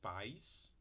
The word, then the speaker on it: pais: eira Mega meiga para país do sílabas e pais ditongo aí duas sílabas e ai tá aqui vocês são duas sílabas porque esse tracinho aqui ele marca em palavras com mais de uma sílaba marca a vogal Tônia a sílaba tônica tá então aqui país